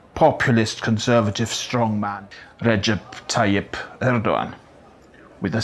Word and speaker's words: Erdoğan: Yours, President of Turkey, populist conservative strongman Recep Tayyip Erdogan with a silent G.